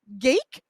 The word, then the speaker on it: Gaeke: I've got with me George Gaeke. Rhymes with cake, George tells me.